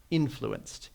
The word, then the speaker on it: influenced: notice that the oops the emphasis should be on the first syllable here influenced he influenced me in